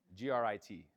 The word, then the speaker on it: Grit: G R I T. I don't pronounce my T's. Grit.